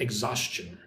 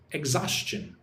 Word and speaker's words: exhaustion: So, look at the word exhaustion. Like the the first syllable, pronounce it like eggs. Like chicken eggs. Exhaustion. Exhaustion.